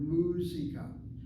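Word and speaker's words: מוזיקה: The word musica. And notice with the first 3 words here, the accent is on the first syllable.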